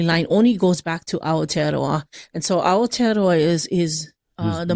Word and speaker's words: Aotearoa: It's, go ahead, Aotearoa. Aotearoa. So you gotta kind of roll your R a little bit. So that's how you would say it.